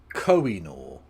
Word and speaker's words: Koh-i-Noor: Koh-i-Noor. At least pronounce it properly.